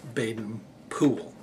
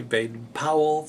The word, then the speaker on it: Baden-Powell: that's that's actually how they pronounce it in England that's how he actually said it and I didn't I didn't really believe it until I actually heard a recording it was from a wax disc tube that actually had had a victrola recording of of his voice and he introduced himself with Baden Poole I heard that and